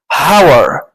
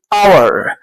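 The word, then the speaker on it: hour: نعرفش حاجه عن اللغه ننطقها ازاي هاور اتش او يو ار اذا لو ه ننطقها في الطبيعي هنقول ايه وور ولكن هي كلغه انجليزيه الاتش هنا لا تنطق فبن ايه اور طيب لما اجي احط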